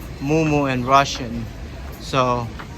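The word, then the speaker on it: Му-Му: this is actually pronounced moomoo and russian so i know it looks like maimai but it's not i love this place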